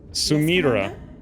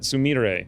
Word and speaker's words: Sumire: had mentioned that um sumira sumire is her real name is how you pronounce it sumire apparently uh we'll talk to